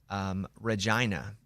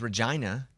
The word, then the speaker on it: Regina: In Canada, we are in a town, in a city that's called Regina. And so and their sign says rhymes with fun because everybody calls it Regina, Funny. but it's Regina.